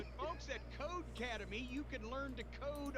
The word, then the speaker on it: Codecademy: word for academy and it's pronounced code academy the same way how do you expect